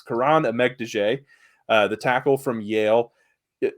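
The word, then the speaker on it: Kiran Amegadjie: Starting off here, I'll say his name because if you're a fan of the channel, you know Tyler struggles with pronunciations, but it's Karan Amegdije, the tackle from Yale.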